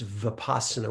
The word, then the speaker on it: vipassana: that we translate as insight in poly it's vipassana with a v you'll sometimes hear pronounced with a w sound will pass that's